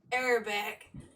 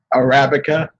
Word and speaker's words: Arabica: But he's laughing at me because I said Arabic instead of Arabica. Arabic. I can't pronounce it, okay? It's freaking coffee beans. Arabica.